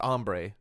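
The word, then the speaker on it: ombré: have you ever had ombre hair um it's pronounced ombre okay but no I yes yes I've also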